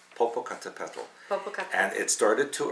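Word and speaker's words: Popocatépetl: Can you say that, please? Papotto volcano. You didn't say it right. I did. Popocatapal.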